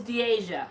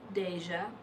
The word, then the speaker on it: Diasha: Oh, I said it right. What? Diasha. It's Diasha. Okay. It's gonna be hard. That's true. Guys, you know we're gonna mess it up again. Tay said it right. I was saying Deja.